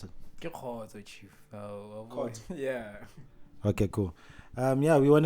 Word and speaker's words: Khotso: How do we pronounce it? Ke Khotso, Chief. Khotso.